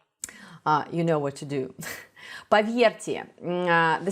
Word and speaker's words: поверьте: And the same thing applies to the letter R, which is followed by the soft sign. R. I know it's really hard. I know. I actually have a video on how to pronounce the Russian R. You should also check that out. So R, поверьте, R. It's like a little vibration.